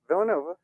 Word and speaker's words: Villanova: Villanova?